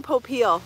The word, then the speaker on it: Popeil: say his last name oh my gosh ron popeil the father of infomercials and i gotta tell